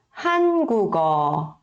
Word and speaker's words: 한국어: E se a gente for ler um pouquinho mais rápido, ficaria 한국어, 한국어, 한국어.